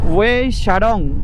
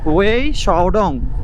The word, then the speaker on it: Wei Sawdong: ওয়ে শাডং, না উচ্চারণটা আর ভুল করলাম মনে হয়, ওয়ে শাওডং ওয়াটারফলের দিকে।